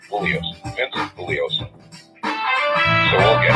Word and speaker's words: Bugliosi: Bugliosi. The G is silent. There you go. Bugliosi.